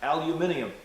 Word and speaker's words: aluminium: It's good quality by the look of it, because it looks like it's aluminum. Or as the British says, aluminium.